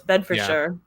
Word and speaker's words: Bedfordshire: It is in Bedfordshire, which I think is maybe pronounced Bedfordshire. No, it's Bedfordshire.